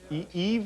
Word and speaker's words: Yves: This is silent. Yves Montand. It has an S on the end of his name?